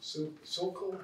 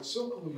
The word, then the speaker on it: Silko: It's a book by Leslie Silko, if I pronounce that correctly, S-I-L-K-O.